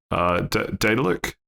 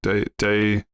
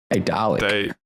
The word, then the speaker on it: Daedalic: Well, the studio behind it, Daedalic? Daedalic. Hey, Dalek. I really don't think that's how you say it.